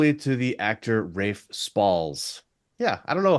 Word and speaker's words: Ralph: And then when you pronounce it when you say it with his last name, it comes out correct, but it's Rafe here.